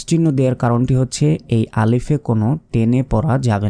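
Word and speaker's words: ألف: যে আলিফ আলিফ নয় শেষে বাংলার প এর মত উচ্চারণ করি তো প হবে না বাংলার যে এই ফ রয়েছে শেষে এই ফ এর মত উচ্চারণ হবে আলিফ আলিফ কোন টানা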